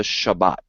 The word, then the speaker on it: Shabbat: All right, so we go from there to the Shabbat. All right, and I call it Shabbat because that's how you say it in Hebrew. All right, Sabbath is because of a Greek thing, but nevertheless, Sabbath or Shabbat, I'll say Shabbat.